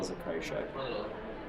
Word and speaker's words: Zakrajsek: Zakrajsek, and it's pronounced Zakrai, like you're crying. Shek, Zakrajsek.